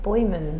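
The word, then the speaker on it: Boijmans: which I'm not going to be able to pronounce. Boyman. Say it? Just Boyman.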